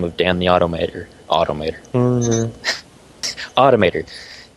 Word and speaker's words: Automator: Automator is the pronunciation I'm looking for there.